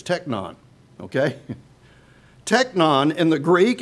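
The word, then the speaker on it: τέκνον: this is a different word now I can pronounce this one in the Greek it's techno okay techno in the Greek and it's used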